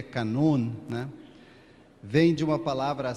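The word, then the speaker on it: κανών: da palavra Canon eh o termo grego Canon na verdade é na pronúncia grega e na acentuação grega é canun né vem de uma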